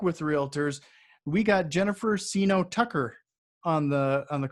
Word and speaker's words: Seeno: We got Jennifer Seeno Tucker on the call. Did I pronounce everything right there?